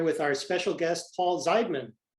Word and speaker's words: Zeidman: our special guest paul zeidman did i pronounce that right that is exactly right thank you for saying it the correct way i get multiple versions